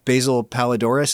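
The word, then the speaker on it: Basil Poledouris: what's his name with the Greek name uh basil paladoris is that how you say his name yeah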